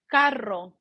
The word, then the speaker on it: carro: In Spanish, we actually let it touch. Like if I say carro, right? Listen, carro, which means car. If I say car, like pronounce using my R in Spanish, you would say car. Instead is car, right? The R, say it loud, car, and pay attention how your tongue goes up, car, and then